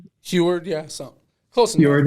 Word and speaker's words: Heward: I got Sam Heward from, I think I pronounced that right. Heward, yeah, so close enough.